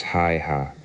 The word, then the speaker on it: Haigha: His name is Hi-Ha." He pronounced it so as to rhyme with mayor.